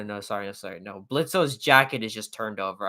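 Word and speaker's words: Blitzø: Blitz, the O is silent.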